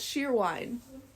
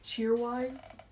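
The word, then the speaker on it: Cheerwine: It's called sheer wine or I think it's spelled like cheer wine. Oh, I think we just say sheer wine.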